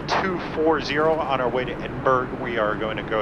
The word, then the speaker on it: Edinburgh: I've been informed by one of my passengers in the back that I have been pronouncing it wrong the entire time. I've been pronouncing Edberg like Pittsburgh.